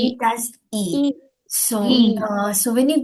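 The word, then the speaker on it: 이: Can anyone pronounce this? A e. We say it as e.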